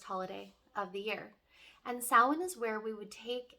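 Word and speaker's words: Samhain: a lot of people refer to it as Sam pain that is an incorrect pronunciation the Celtic pronunciation of this holiday is sowin sawhen is our last and final Harvest holiday of the year and Sawan is where we would take and and look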